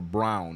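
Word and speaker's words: Braun: scorer behind jic is Christian brwn or brown is what we're I was told is how his name is pronounced with 12 points yeah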